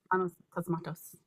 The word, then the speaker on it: Panos Cosmatos: Panos Cosmatos.